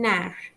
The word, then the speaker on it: nerf: se prononce pas en nerf, which means the letter F is not pronounced in nerve. Nerf. Nerf. You can hear that I don't pronounce the letter F. Nerf. We don't pronounce it as nerf because F is a silent letter.